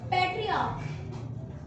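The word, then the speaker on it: patriarch: अब बात करते हैं थर्ड एग्जांपल की, पैट्रियार्क होता है, CH को यहाँ का प्रोनाउंसिएट करते हैं और इसलिए इसको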